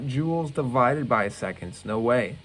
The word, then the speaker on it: joules: joules is the unit for energy to spell j-o-u-l-e-s joel's we pronounce it joules now i just want to